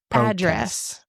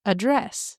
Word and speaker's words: address: for most of them, the noun form, the emphasis is placed on the first syllable, like address. Okay. Well, yeah, like protest. Oh, or address. Okay. Or if you're addressing someone, it's address.